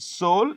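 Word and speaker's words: Seoul: But in which two cities highest number of passengers move in South Korea you know the capital is called soul the e is silent soul and there is a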